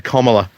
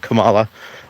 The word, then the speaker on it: Kamala: Oh, sorry, Kamala, not Kamala. Kamala, like comma.